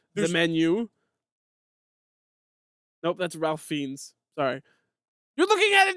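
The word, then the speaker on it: Fiennes: two different people Bron this is not Ray findes I I how you pronounce I'm looking at Ray F the actor who was in the Kings man the menu nope that's Ralph fiends sorry you're looking at a different guy too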